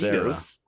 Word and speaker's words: Genos: The cyborg It's Genos. You got. No, he actually pronounced Genos properly.